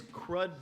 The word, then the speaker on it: Crude: Watanak, which makes crud beer, it's supposed to be pronounced crude, not crud, but crude, it's actually one of my favorite beers in the world.